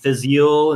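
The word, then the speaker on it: Fèis Ìle: new octomore coming out being released at the Physiol is how you pronounce it festival is happening vistas yield yeah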